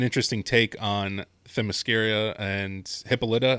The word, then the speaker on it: Hippolyta: It was an interesting take on Themyscira and Hippolyta. I think her mother's name is Hippolyta, I think is the pronunciation.